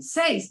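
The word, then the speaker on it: seis: who know being okay the only one I'm going to correct you on a little bit we're going to do a little tweet with that number six sayings yes says yang bien says there you go these are all things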